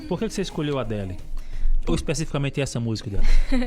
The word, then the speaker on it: Adele: Aí errei a pronúncia do Adele, que é Adele, não é Adele.